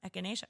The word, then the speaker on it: echinacea: friend made a lot of how do you pronounce it? Echinacea. Echinacea, yes.